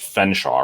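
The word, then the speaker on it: Featherstonehaugh: h hamshaw yes and Fen hamshaw and it's pronounced Fen Shaw right but it's spelled Featherstone HW it's spelled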